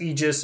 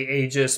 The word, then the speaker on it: Aegis: look it says Google says egis but I say Aegis because I I don't know I enjoy being wrong uh first off props